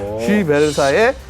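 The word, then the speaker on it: Schiebel: 오스트리아, 자, 아까 발음 주의하셔야 되겠죠? 쉬벨사입니다. 쉬벨. 쉬벨사의 캠콥터 S300을 바탕으로 한화 시스템이 합작해서 개발하는 무인기가 되겠습니다.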